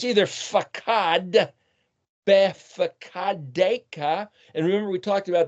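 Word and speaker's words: בפקודיך: Well, the pei can be either pronounced as a PH or a P. So it's either fakad, befakadeka.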